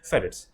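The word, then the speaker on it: Ferrites: फेरिटीज इट्स फेरिट्स बोलते हैं इसको शॉर्ट में, वैसे प्रोनाउंस कैसे करते हैं, फेरिट्स।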